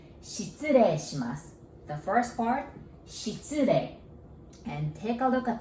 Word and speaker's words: 失礼: The first part, 失礼. And take a look at the first four characters. S-H-I-T. Shit. So just imagine if shit was plural. And how would you pronounce? Shits, right?